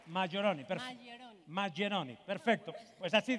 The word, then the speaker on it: Majeroni: A ver, el apellido exactamente, ¿cómo se pronuncia? Maggioroni. Maggioroni, perfecto.